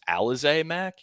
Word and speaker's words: Alize Mack: So I'm fine with, I actually believe it's pronounced Alize Mack.